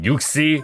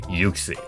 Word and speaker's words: Uxie: a debate over pronunciation is it yuxi or uxi the world wonders until you check out the 3ds pokedex pronunciation which reveals that it is officially yuxi also those who played